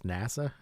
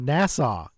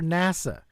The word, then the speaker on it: NASA: he also can't pronounce NASA how does he pronounce it he calls it Nassau which is a different thing nasau is is a place not a government organization oh let's get into this